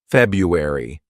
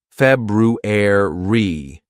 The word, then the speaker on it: February: February okay this actually a word that's mispronounced by lots of students because they sometimes say February it's not feuer e it's February re a ruer February now you've got it good